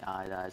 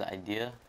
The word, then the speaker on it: Eyedea: think about it and also my name is idea some people mispronounce my name in quite a lot some people call me iodide some people call me ID or some weird